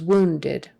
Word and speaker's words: wounded: adjective for that is wounded wounded get your W your lips coming together wo woo woo uh wounded wounded and that last syllable is kind of like a e or I wounded wounded just not